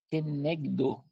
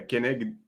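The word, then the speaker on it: כנגדו: Kenegdo, né? É algo assim, né? É kenegdo, porque tem um acento no Difícil. o, então kenegdo. Aliás, sempre em hebraico você vai colocar a ênfase na última sílaba, tá?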